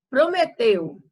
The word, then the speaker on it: prometeu: Então, até você falando aí, você já percebe que a sílaba tônica é Prometeu. Prometeu. Então, ó, teu, você já pronuncia ele mais força. Então, a sílaba tônica da palavra prometeu é teu.